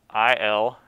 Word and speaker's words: iliacus: And the reason the iliac fossa is important, or the significance of that landmark, is the iliacus muscle, and it's spelled I-L-I-A-C-U-S, iliacus, iliacus muscle, originates there in the iliac fossa.